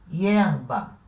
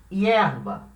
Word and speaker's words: hierba: Por exemplo, palavra hierba. O que quer dizer hierba? Erva. Hierba. A palavra hierba tem duas sílabas. Hierba. A sílaba tônica é a primeira, né?